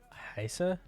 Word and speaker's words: heiße: Oh, it's pronounced S. Oh. So, Heisa?